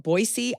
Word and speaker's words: Boise: which was we got on the plane from boisey Idaho this morning is that how you say